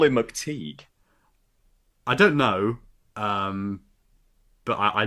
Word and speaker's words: McTighe: I pronounced that right, haven't I? It's not McTighe. McTeague like not Just like like- as in everyone like else a- thinks.